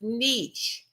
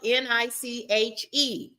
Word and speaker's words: niche: It is pronounced niche. Okay, but this is how it reads. This is how you spell it. It is spelled N I C H E.